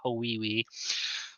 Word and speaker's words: Hawaii: For those of you that are familiar with Hotel Transylvania and how they pronounce Hawaii in that movie, it's Hawiwi.